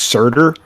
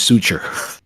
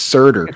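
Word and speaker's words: Surtr: one of my friends Suture, but I think it's Surtur. I think it's Surtur. I think you were right. What'd you guys think about going back to Muspelheim and the whole Surtur angle and the whole end of Ragnarok?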